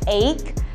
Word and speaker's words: eight: lainnya bahasa Inggrisnya 8 Nah itu gh-nya nggak usah dibaca jadi nggak perlu ribet-ribet bacanya eight tapi langsung aja atau